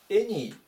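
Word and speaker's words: any: 思います 109 番エニエニ発音が注意ですねあではなくてえっていう風に始まってエっていう風に読みますでこの単語見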